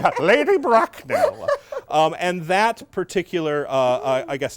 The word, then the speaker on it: Bracknell: Yeah, Lady Bracknell.